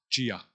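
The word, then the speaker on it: Çiya: C with the Sedilla accent. Yeah, like, which is pronounced ch.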